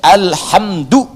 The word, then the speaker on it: alhamdu: Jadi al-qira'us sab'ah ala dhammid dal, bacaan di qira'ah sab'ah, semua para pembacanya itu mendhammahkan huruf dal di alhamdu. Ya, alhamdu, alhamdu.